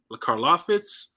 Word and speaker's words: Karlaftis: Karlaftis.